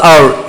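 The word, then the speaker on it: hour: number six पे हम जाते हैं आवर versus आवर एच ओ यू आर आवर versus O यू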